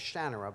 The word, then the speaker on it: Shannara: had this discussion because everybody says shinara and um i've i said a long time ago that i don't have any claim to the pronunciations i never pretended that that was the importance to me the way i say it is shannara but i don't actually